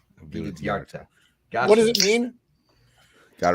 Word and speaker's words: Vildhjarta: That name was really tricky to pronounce properly. It's Vildhjarta. Vildhjarta.